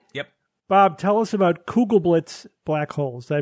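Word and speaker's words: Kugelblitz: right thanks Evan yep Bob tell us about cougal Blitz black holes did I pronounce that correctly yes an exotic but theoretical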